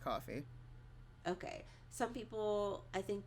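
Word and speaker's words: Ko-fi: Is it coffee? It's pronounced coffee.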